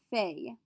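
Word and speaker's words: fais: first box our ju is going to be fey f-a-i-s je fey i do or i make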